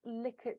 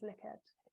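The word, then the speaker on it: Likert: all a kind of licket scale uh I'll mention that later as well quite often um mispronounces like it but it's actually um I believe a Dutch uh scientist called Ren's liqued um but um any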